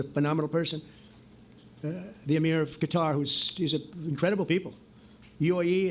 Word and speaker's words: Qatar: I'm liking that he's saying Qatar instead of Qatar, like these idiots were saying before, who were in office. I mean, it's little things, but bare minimum. Thanks for saying it correctly, I guess.